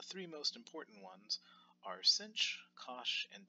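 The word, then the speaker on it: sinh: any event the three most important ones are cinch cosh and tan CH so this first note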